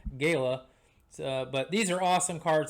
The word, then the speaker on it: Gala: Gaya I call these Gala and Galas uh pretty much my whole life until last year I learned that the uh correct pronunciation is apparently Gayla but these are awesome